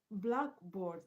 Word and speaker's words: blackboard: So the stress is on board, not on black, because black is telling you about the board.